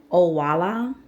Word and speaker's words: Owala: This is the Owala.